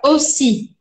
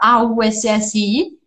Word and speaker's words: aussi: Você lembrava que a palavra era escrita A-U-S-S-I, e aí você falava aussi. É sutil, mas não é para pronunciar o A, porque A-U tem sempre som de O. O. Então fica aussi.